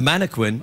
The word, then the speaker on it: mannequin: A mannequin? Yeah, that's how you say it. You pronounce the qua.